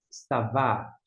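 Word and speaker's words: צָוָה: Tsad com o A é Tsa, aqui é o Vav, que é o V, com um A longo, e aqui não pronuncia. Savá.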